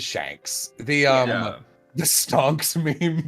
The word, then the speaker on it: Shanks: I'm going to print I've heard people call them shocks I heard people call them Shanks I don't know what it is I I will say you are not the first person I have heard pronounce his name Shanks yeah uh but yeah it is it is Shanks the um the stunks